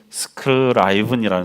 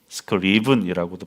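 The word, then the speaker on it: Scriven: 조셉 스크라이븐이라는 사람이 있어요. 스크리븐이라고도 발음하는데, 그는 아일랜드의 이 부유한 가정에서 태어나서 명문대를 졸업한, 그러니까 세상의 기준으로 볼 때에 정말 남부러울 것 없는 청년이었습니다.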